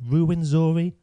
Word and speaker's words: Ruwenzori: Ruwenzori? No, you got it spot on for the English pronunciation. I don't think any of us are going to try for the local pronunciation.